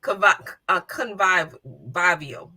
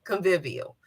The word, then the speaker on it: convivial: of the week is convive viio I hope I'm saying that right convivial I'm sorry I said it wrong convivial so the first person